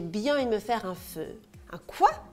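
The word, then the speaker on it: phở: il me faire un feu quoi un feu ça se prononce comme le mot feu dans pot-au-feu et pour cause ce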